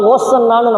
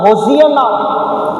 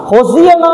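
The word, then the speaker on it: הוֹשַׁעְנָא: இதனுடைய உண்மை பொருளை நம்ம பிரித்து பார்த்தோம் என்றால் சொன்னால் அதனை உச்சரிப்பே நம்மனா ஓசன்னான்னு நம்ம தப்பாக சொல்கிறோம். ஆனால் உண்மையான அதனுடைய ப்ரொனன்சியேஷன் எப்படி எபிரேய மொழியில் இருக்கிறது என்று பார்த்தால் ஹொசியனா. ஹொசியனா என்கின்ற வார்த்தையை அவர்கள் பயன்படுத்தி இருக்கிறார்கள்.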